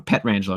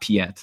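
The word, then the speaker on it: Pietrangelo: Pet Rangelo, not Piet. The I is silent.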